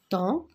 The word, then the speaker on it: temps: et pourtant je l'écris temps ps je l'écris mais je ne l'entends pas gris la lettre s